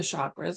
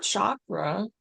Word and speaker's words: chakra: In Sanskrit, the language of the ancient Indian seers who first identified these energy centers, the word chakra, pronounced chakra, but I say chakra, means wheel or circle.